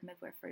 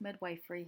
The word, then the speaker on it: midwifery: It's the pronunciation of the word midwifery. Although it's commonly pronounced midwifery, Helvi shared with me that it's actually pronounced midwifery because according to Old English, mid corresponds to with and wif corresponds to woman.